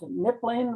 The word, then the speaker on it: Knipling: Okay, so the title is my name is pronounced Knipling with a silent K.